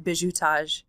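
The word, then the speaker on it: bizutage: entire scene is happening in what the french call and i'm going to slaughter bishou which is spelled b-i-z-u-t-a-g-e and that's the hazing period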